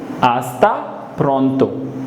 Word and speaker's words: hasta pronto: Hasta pronto. H is silent. Hasta pronto.